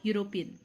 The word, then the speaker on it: European: Y sound is prominent, so European. So European, U, Y.